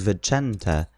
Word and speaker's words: Vincent: I thought was well I suppose the English version would be Vincent but the way to pronounce it is Venta uh Venta so it's